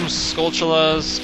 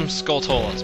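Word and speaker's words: Skulltula: toas by the way other people pronounce them skulas people pronounce them skolas I pronounce them skolas because that puts more emphasis on the word skull and I think that sounds pretty badass anyway now that we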